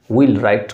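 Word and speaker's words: wheelwright: होते हैं उसी को विल राइट कहा जाता है ध्यान रखिएगा यहां पर व जो है वो साइलेंट होते हैं इसको बोला नहीं जाता है नेक्स्ट है आपका क्राफ्ट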